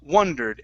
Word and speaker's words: wondered: it's n i w instead of w wandered it's w wondered and I wondered try that